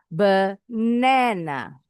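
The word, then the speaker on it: banana: Benana suku kata kedua intonasinya lebih tinggi dibacanya sedikit lebih panjang.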